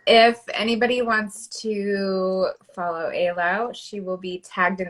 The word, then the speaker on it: Ayla: So I will, it's Ayla, and the easy way to remember, it's like island, but without the end.